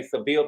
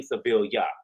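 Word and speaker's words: Sevilla: And she let us know that it is not Seville. Americans say Seville, but it's really Seville.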